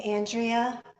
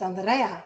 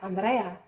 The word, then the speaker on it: Andreyah: In the mid 90s, people were calling me Andrea, And my mother told me she named me Andrea, but the real pronunciation is Andrea, Andrea.